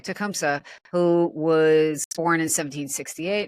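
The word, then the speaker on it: Tecumseh: in the area um I always wonder if I'm pronouncing this correctly tumsa tumsa yeah okay tumsa who was born in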